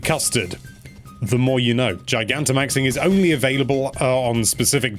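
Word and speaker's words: Gigantamaxing: Dinah maxing although it's very similar it's called Giganta maxing or gigan to maxing i've seen some people pronounce it which is wrong this not only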